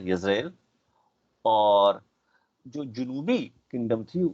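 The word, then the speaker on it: ישראל: جو شمالی کنگڈم تھی اس کا نام تھا اسرائیل، جس کا عبرانی میں تلفظ ہے یزرائیل، اور جو جنوبی کنگڈم تھی اس کا نام تھا جوڈیا.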